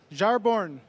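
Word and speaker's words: Jarnbjorn: Odinson wields close but no it's pronounced ajar born Jar born or as I like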